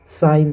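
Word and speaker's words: sign: इसका प्रोनाउंस है जो साइन से करेंगे जी का इसमें उच्चारण नहीं होगा उसी प्रकार जी एन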